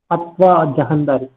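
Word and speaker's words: Fatawa-i-Jahandari: Am I pronouncing it correctly? Sir, yes, sir. Saha, Yes, sir. Correct on Jahandari, right? Fatwa Jahandari.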